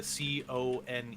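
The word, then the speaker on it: koan: you said Con I literally thought you meant c o n e not Coan or Coan con it it's pronounced con and it's a riddle basically is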